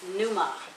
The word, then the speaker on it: pneuma: is this pronounced ruach in greek it is pronounced pneuma you want me to spell that yeah okay